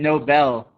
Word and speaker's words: Nobel: dangers of mispronouncing words some words are very similar um except the word stress right so this is noble and nobel you guys the nobel is very famous um and then you